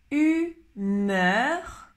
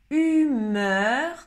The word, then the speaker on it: humeur: Alors, humeur, le premier. Humeur, c'est le son E français.